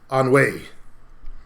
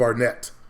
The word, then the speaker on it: Arnett: I know my last name is supposed to be pronounced like Anwe instead of Arnett.